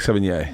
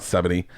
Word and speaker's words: Sevigny: before you can say 7 yeh or like 7 yeah yeah that's the front it's friend 7 yeah that's what I bought it's not 70 Chloe Sevigny it's Chloe Sevigny so if you